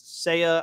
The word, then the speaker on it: Seiya: I believe it's Seiya. I may be pronouncing it wrong, but I will call